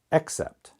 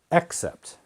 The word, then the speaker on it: except: sound here is a the first vowel sound here is e now some native speakers may not pronounce them differently but you should accept except accept accept except okay so that's pronunciation A little bit different let's make a couple